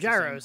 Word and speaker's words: gyros: No, it's gyros. Like, it's like gyros, like the thing inside the airplanes that make them go straight.